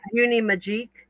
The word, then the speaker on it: Uni Magique: It's Uni Magic, but it's spelled M A G I Q U. So Oh, cute. Okay. Uni Magique.